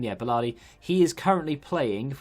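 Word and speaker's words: Balerdi: Yeah, Bellardi.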